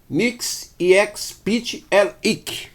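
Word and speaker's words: Mxyzptlk: É a história do misterioso senhor, como nós temos aqui, ó, Nix Ex Pit El Ik, que é como se pronuncia o nome dessa figura aqui, que é uma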